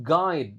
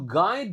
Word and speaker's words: guide: I'm excited to guide. Nah, ini menarik kan? Ui dibaca AI. Jadi, U-nya sama sekali enggak dibaca. Yang dibaca malah I. I'm excited to guide you true.